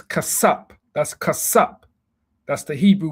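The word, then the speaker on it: חֲסַף: Strong's H 2635 khaseph khaseph They say kasap, it's kasap.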